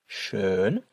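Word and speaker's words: schön: So with the umlout the word is pronounced shern which means beautiful and without the um that word is pronounced sha which means already.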